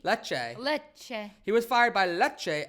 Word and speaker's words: Lecce: Lychee? I don't need, Lecce? I would say Lecce. Lecce.